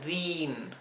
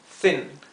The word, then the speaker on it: thin: Por ejemplo aquí, esto no se pronuncia din, se pronuncia thin. Thin, no es thin, es thin. Es una I corta y más cerrada, más apagada. Thin, ¿verdad? Si lo leyéramos en español diríamos thin, pero es thin, thin.